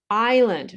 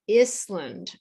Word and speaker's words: island: Island, not Iscland. Iscland sounds like the country. Iceland. And it is an island.